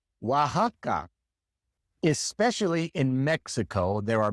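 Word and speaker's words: Oaxaca: The same with Texas Teas or Wajaka. Wajaka. Especially in Mexico, there are many place names that are spelled with an X but is pronounced like an H in English.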